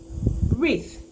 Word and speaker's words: wreath: people another one is wreath with here the w is silent reef has to do with